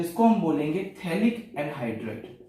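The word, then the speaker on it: phthalic: ठीक है, इसको हम बोलते हैं थैलिक एसिड। थैलिक एसिड, यहां पे पीएच साइलेंट होता है, थैलिक एसिड, थैलिक अम्ल बोलेंगे।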